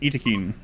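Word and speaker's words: Yttakin: And they told me that I mispronounced Itakin. But that's how the developers said that their made-up word is pronounced.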